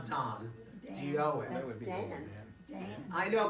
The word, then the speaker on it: Dan: But just plain Don. If you know somebody named Don, D-A-N, not Don, D-O-N. That's Dan. I know, but in Hebrew it's pronounced Don.